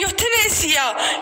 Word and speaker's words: euthanasia: And then यूथनेसिया जिसकी spelling है EUTHANASIA, इसको पढ़ते हैं यूथनेसिया.